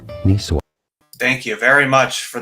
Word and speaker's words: Niçoise: In French, for reference, it is said as Niçoise. Niçoise. Therefore, in English, it is generally said as Niçoise. Niçoise.